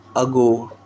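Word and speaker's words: argot: अगो अगो इसमें आर भी silent TV भी साइलेंट है अगो अगो मतलब अ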